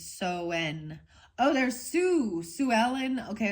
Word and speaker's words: Samhain: I just read it how it looks like it sounds. It says Samhain, the Hain. But then the pronunciation is Soen.